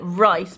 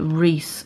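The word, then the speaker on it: Reiss: highlights I got this I always call it rice because that's how you pronounce it in German but a lot of people call it Reese so I don't know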